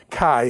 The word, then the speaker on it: chi: key is the uh or Chi however you want to pronounce it and stuff but it's actually key a key is basically